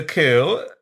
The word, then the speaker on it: coup: and it was a coup wait what it's a coup the p is silent kind of like when